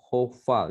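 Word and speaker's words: hof'al: Lalu kemudian hitch file, lalu hifil, lalu hofal. Ya, ini bacanya O ya.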